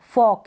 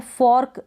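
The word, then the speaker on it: fork: जैसे कि ये है एफ ओ आर, एफ को फ ओ क, फॉक, इस तरीके से बोल सकते हैं। फॉर्क, र का साउंड ना निकाले तो चलेगा, प्रोनाउंसिएशन में ऐसे ही बोला जाता है।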